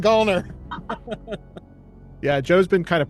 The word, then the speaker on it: Gallner: Yes, it's Gallner, and I've been saying Gallner forever.